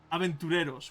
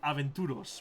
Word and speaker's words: aventureros: They're called aventureros, which is the good spelling of it. Normally, I see it being called aventuros, which is not a word at all, like a bastardization.